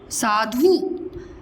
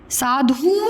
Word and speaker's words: साधु: सा, धू, साधु। साधु नहीं बोलते, साधु, ठीक है? इनके उच्चारण में समय कम लगता है।